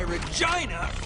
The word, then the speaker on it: Regina: Oh, and that's why Regina rhymes with fun.